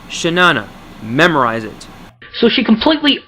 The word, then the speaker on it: Chenana4ever: Not Shayana, not Triana, or your butthurt white knight stop Shay Carl, it's Shenana.